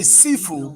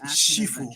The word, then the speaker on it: Sifu: Inspired by Jackie Americans say Sifu, but the actual name is Shifu.